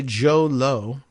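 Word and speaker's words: Jho Low: h o low l-o-w which made me think I'm like does it really rhyme as a Joe low is it Lao but all the pronunciation guides I went and checked all the pronunciations you know I'm looking at the Articles and or videos and interviews and places where they mention the name they say Joe Lowe is his name he's the Malaysian businessman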